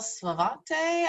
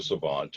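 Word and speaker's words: Savante: Sure, it's French, so it's a silent E, but it's Savant.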